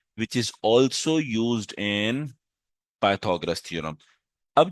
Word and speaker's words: Pythagoras: पर क्या है बेटा पाइथा गोरस भी पढ़ते हैं लेकिन असल जो होता है बेटा pronunciation that is पाइथागोरस theorem सही है लिखने में